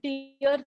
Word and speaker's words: tier: Tier 1, tier 2, and tier 3. Yes, it is pronounced tier. It is not tire, it is tier.